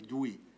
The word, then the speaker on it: Dewey: Ça s'écrit Dewey, on dit Dewey.